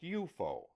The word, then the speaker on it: UFO: UFO, pronounced "you-fo" for short.